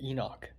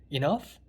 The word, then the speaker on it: Enoch: And I said Enoch. Enoch? Enough? No, Enoch. Oh, Knock? No, Enoch.